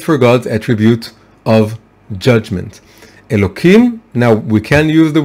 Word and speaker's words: Elokim: And the second name is, of course, Elokim, right? It's written with a Hey, with an H, but we pronounce it with a K.